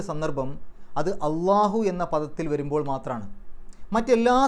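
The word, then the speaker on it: الله: ചില ഭാഷാ പണ്ഡിതന്മാർ അഭിപ്രായപ്പെട്ട അള്ളാഹു ആലം ലാം എന്ന അക്ഷരം കനത്തിൽ ള എന്നുള്ള രൂപത്തിൽ ഉച്ചരിക്കുന്ന ഒരേ ഒരു സന്ദർഭം അത് അള്ളാഹു എന്ന പദത്തിൽ വരുമ്പോൾ മാത്രമാണ്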